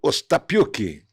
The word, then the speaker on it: Ostapiuck: O Weber Lima, que é presidente da Juventude do Partido Novo, e o Ostapiuk, pronunciei correto? Pronunciou certíssimo.